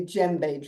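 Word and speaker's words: djembe: is a called a JBE drum spelled djem b you don't pronounce the d Christian friends don't don't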